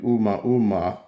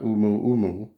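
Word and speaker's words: ʻOumuamua: I mean, the pronunciation, everybody pronounces it different, but I think it's supposed to be Oumuamua, not Umu.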